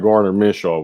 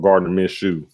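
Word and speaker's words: Gardner Minshew: but it's not like garner mitchell was going crazy miss you my fault gardner miss shoe is how you pronounce his name was doing bad like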